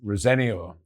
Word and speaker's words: Rosenior: Yes, Rosenior is the way the family pronounces the surname. And I have to admit that back when Leroy was playing, he told me so.